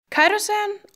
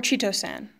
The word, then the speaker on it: chitosan: Chitosan, or Chitosan, no matter how you pronounce it, it is still a rather revolutionary substance whose uses are still being discovered.